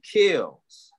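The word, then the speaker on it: Keels: never corrected you because the powers spell so it's k-e-e-l-s but it's really kills star kills i didn't think it was chaos myself yeah people keep saying kills and i'm like kill its kills like keys but with the l keep kills kills so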